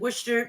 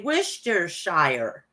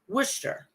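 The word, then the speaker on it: Worcester: the DCU Center in wer Massachusetts I said it wrong sorry it's wer some say Wisher Shire I say Wisher okay I am not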